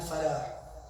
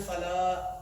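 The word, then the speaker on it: فلاح: They do hayya, hayya lal salah, hayya lal falah. They say falah. They miss the ha out. It's supposed to be falah, falah. With the soft at the end, the ha needs to be pronounced.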